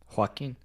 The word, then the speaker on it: Joaquin: Joaquin.